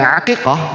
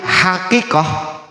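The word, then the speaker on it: عقيقة: Maka kalau ada di antara kita yang selama ini mengatakan bukan akikah, membacanya bukan akikah tapi hakikah. pakai H atau pakai H bahkan, maka itu dari sisi bahasa salah. Karena dasar akikah dari bahasa Arab itu pakai ain tulisannya akiqah bukan hakikah.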